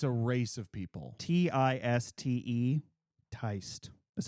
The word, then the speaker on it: Tiste: We should do it's Teist and D. Yes. You will see that, and you will know it when you see it. Teist. Is that a character? It's a race of people. Tiste. Teist.